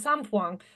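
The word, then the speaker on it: sainfoin: A horse owner I was working with in France, and of course you pronounce it sampoing. So I now call it sampoing, not sandfoin.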